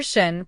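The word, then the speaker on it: שׁ: Letter Shin, pronounced like the English sh as in shalom.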